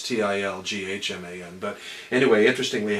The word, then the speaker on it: Tilghman: know, Tilghman posters, and they mispronounce it because the G and the H are silent. It might as well be Tilman, but it's Tilghman.